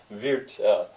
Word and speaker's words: wird: When I look back at it, wird, he will sing. Wird. It's spelled with a D. Now it has that sound of T, at least to an English speaker's ear.